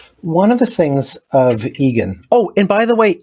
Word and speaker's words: Egan: of the things of Egan oh and by the way it's pronounced Egan with the emphasis on the first syllable rather than Egon which is the Ghostbuster who is you know